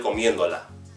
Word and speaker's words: comiéndola: So, as you can see when it's written, it's going to have an accent mark on the third to last vowel, the third to last syllable. Because if we say the word comiendo naturally, then we hear the stress over the E.